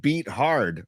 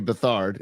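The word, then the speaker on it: Beathard: you want to go CJ Beat Hard or CJ Bethard is the way we should really pronounce it, but if you look at his name, it says Beat Hard.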